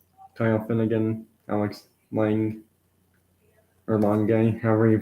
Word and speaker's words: Lange: Kyle Finnegan, Alex Lang, or Lange, however you pronounce his last name. I think it's Lang because the E is silent.